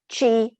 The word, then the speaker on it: chi: practices that we call chi for two we use the word chi because it rhymes with the english word tea and there's that old